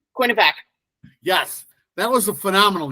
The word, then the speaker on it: Quinnipiac: Quinnipiac.